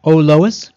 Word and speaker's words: Ollois: yes we we did it and these products pronounced ois ois ois where can I buy them well